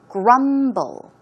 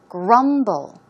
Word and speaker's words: grumble: eaten the pronunciation is Grumble grumble the stress goes on the first syllable one more time Grumble